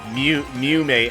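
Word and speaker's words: Mumei: Mew-May what? No, Mew-May. M-U-M-E-I, I think? I think that's how you spell it.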